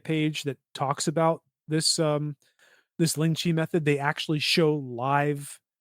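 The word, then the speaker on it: 凌遲: about How do this you on the pronounce first it? recording a little bit. You got it. Ling Chi.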